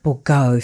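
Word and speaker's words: Bourgeault: Bourgault.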